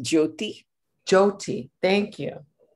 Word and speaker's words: Jyoti: So it's pronounced Jyoti? Jyoti, thank you.